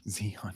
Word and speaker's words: Zeon: Zeon though. I love that name. Zeon. Yeah, that's so easy. It's what is that? It's It's Leon but with a Z.